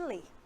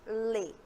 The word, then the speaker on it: ler: saquinho no finalzinho ler e quando falamos pronunciamos o r ao falarmos lê na maioria das vezes falamos lê sem esse sonzinho do R assim como